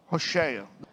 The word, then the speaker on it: Hoshea: E como você pronuncia Rocheia? o nome dele. Hoshea.